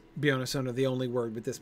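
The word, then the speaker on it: Beyoncé: word with the stress on the middle syllable right we never it's the only time we've gotten that pattern butterflies gossamer we get the stress on the first syllable in both of those three syllable words right and butterflies and gossamer um and uh yeah it is beyonce the only word with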